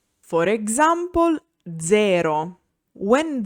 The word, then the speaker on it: zero: When Z is voiced, it's called Z sonora. For example, zero.